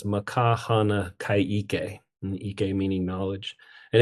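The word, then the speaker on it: Ma ka hana ka ʻike: And the way it's pronounced is makahana kaike, and ike meaning knowledge.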